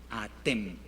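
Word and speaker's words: אתם: Atem, atem. Significa ustedes, hombres. Ustedes, hombres. Fíjense, después viene una pequeña sutileza en la pronunciación. ¿Qué dice allí? Aten. Aquí dice atem, aquí aten, esto es ustedes mujeres, o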